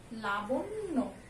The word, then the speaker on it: লাবণ্য: আমরা এটা উচ্চারণ করি কি লাবণ্য, এখানে তাই দিয়ে আছে, এটার উচ্চারণ হচ্ছে আমাদের লাবণ্য। জফলার জন্য নয় ডাবল উচ্চারণ হবে লা বন, এই পর্যন্ত একটা উচ্চারণ, নয় ওকারে নো, ঠিক আছে, লাবণ্য।